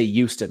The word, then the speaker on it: Houston: Houston people talking and they say Euston with the within it without the H sound it's like a very